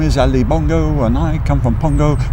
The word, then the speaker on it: Bongo: and a name Ali was the right name, see, and I decided to make it Bongo, to rhyme with Pongo, because I sang a song in the playing.